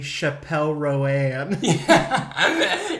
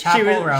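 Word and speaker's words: Chappell Roan: Because it's so funny, because I just saw a TikTok where she was like, stop calling me Chappelle Roanne. Yes, it's Chapel Roan. She was like, it's Chapel Roan.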